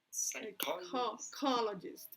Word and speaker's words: psychologist: In the second syllable, psychologist.